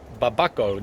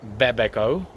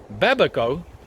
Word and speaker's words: babaco: new growth and brett it's babako not babeko babaco i couldn't i nearly